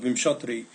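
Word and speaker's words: Vimshottari: I think the Indian pronunciation is usually something more like vimhatri. So, but I say vimsetary because I'm an American.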